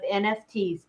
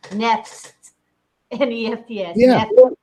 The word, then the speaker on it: NFTs: holding and trading nfts how do you pronounce nfts you say most people spell it out nft the brave people call them n any FS yeah anybody here heard